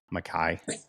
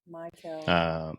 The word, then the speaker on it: Maykel: So, I mean, like, what do you feel about Major League Baseball right now, Mackay? I'm sorry, dude, messed it all up. Maykel.